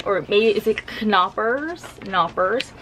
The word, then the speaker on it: Knoppers: I think these are called Knoppers with a silent K, maybe. Or maybe is it Knoppers? Knoppers.